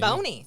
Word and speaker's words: Boney: Yeah, I I want to say it's Bonnie, but it's probably Boney. It's Boney. Yeah. So. language, that's a long o if it's followed by e y.